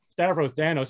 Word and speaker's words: Stavros Danos: um extremely fortunate to work with aries surat stavros thanos am i pronouncing your name correctly yes uh that's actually